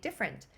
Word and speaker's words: different: then I can make different same thing um I don't hear I kind of pronounce it taking away that e so have your students